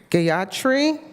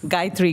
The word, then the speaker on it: Gayatri: Gayatri Gola from Rocklage Elementary. You're smiling like I butchered it. Please. What? Please say your name. Guy three.